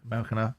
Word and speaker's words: Maracanã: How do I pronounce it? Maracanã.